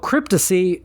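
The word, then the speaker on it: Krypticy: Then a band called Cryptosy, but it's spelled K R Y P T I C Y.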